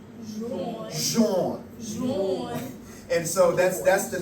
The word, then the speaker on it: Jean: So in French, John is pronounced Jean. Jean.